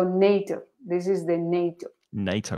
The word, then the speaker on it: NATO: NATO, not NATO, NATO.